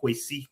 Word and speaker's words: Kwesi: I'm just pointing out his name's actually not Kwasi Kwarteng. It's actually Kwesi Kwarteng. That is actually. Care. It's actually the Ghanaians who always pull me up and say his name is not actually Kwasi. They always say to me his name is Kwesi.